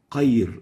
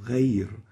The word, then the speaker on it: غير: So qayr is wrong, ghayr is right.